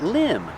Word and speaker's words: limb: say this is a tree limb that's right limb the v is silent one tree limb and two tree limbs